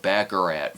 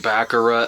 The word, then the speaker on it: baccarat: out to explain the game of bakarat for the audience or pronounced baccarat again depending on the scene uh one player buys